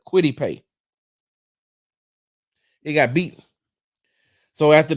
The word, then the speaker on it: Kwity Paye: by Colts defensive end Kwity Paye. That's how you pronounce his name. Hold on, y'all. Let me get it's Kwity Paye, right? Where is it? Yeah, Kwity Paye.